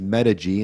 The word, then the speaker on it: Medig: Yeah, Medical Injury Group, otherwise known as Medig, and it's spelled M-E-D-I-G, if for those listeners out there.